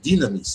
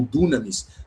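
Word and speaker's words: δύναμις: da nossa palavra dinamite, dinamis ou dunamis, dependendo da tua pronúncia, mas a ideia é um é um y, né? I, esse som i dinamis com poder.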